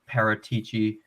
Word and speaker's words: Paratici: We'll let you and Paratici, that's the proper pronunciation.